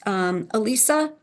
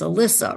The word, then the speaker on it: Alyssa: Elisa, I pronounced it wrong. It's Alyssa, right?